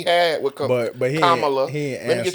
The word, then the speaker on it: Kamala: Let me get your name right, because the way she whooped him in the debate, It's Kamala. I said that right. But Yeah, the yeah. serious I said it right. No, because somebody said something to me on last time Kamala. That I said her name wrong. that we in Kamala. general was saying it, but